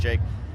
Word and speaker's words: JVKE: They actually have really good taste, but there's this guy Jake, JVKE. Yeah. But I think it's pronounced Jake.